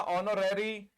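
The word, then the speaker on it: honorary: हमने लिखा आवर हमने लिखा ईर हमने लिखा ऑनरेरी इन सब में एच साइलेंट है ऑनेस्ट ऑनर ये ओ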